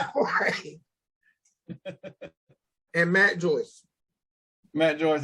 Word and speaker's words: Jorge: George Polanco. How you spell it? Polanco. Polanco. Jorge. Is it George or Jorge? Is it Jorge? Yeah. Okay. Yeah. Jorge.